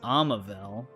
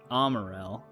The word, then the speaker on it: Amavel: Yeah, his name is Amavel, not Amarel.